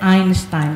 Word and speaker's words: Einstein: jadi mulai hari ini kita harus bacanya Yang benar ya Albert einstain karena beliau dari Jerman kita nah sebelahnya ada